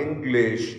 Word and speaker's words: English: For example, English, it has two syllables. We put stress on the first syllable and the second syllable is unstressed.